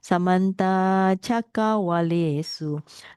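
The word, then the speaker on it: Samantā cakkavāḷesu: If you just recite Samanta Chakawale Su, then you don't pronounce the long A. So you have to pronounce it Samanta Chakawalesu. Kind of like little bit pause there.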